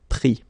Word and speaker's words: pris: Final S not pronounced, so prendre, pris.